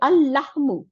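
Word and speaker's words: اللحم: লাহমু মানে মাংস, তাহলে আল লাহমু, এটাকে আমাদের কি হলো, আল, এই লামটা উচ্চারণ করব না, গিয়া এই লামটা গিয়ে ওই লামের সাথে মিলে যাবে, মিলে গিয়ে ওইটাকে সাদ্দা দিয়ে দেবে, তাহলে আল্লাহমু। ঠিক সেম ওয়েতে আল্লাহ, আল,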